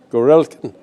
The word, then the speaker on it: Gorelkin: And I am today fortunate to have with us Anton Gorelkin. Correct pronunciation? Yeah, Gorelkin.